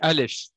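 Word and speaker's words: אלף: ça, elle se dit Aleph. Donc, elle se dit Aleph. Vous voyez, elle se dit comme ça. Et du coup, on appelle le nom de la lettre tel qu'il est en 3 lettres, Aleph, Lamed, Pei, on appelle ça le miloui.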